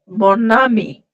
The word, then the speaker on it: mon ami: Whatever happens, madam, this mo, when it is followed by a noun starting with a vowel, that okay. n sound, which is otherwise nasal, we pronounce it as mo. That n sound will Mo, become prominent, and we'll link that n sound to the next vowel sound, like mon ami, mon imperméable, like that.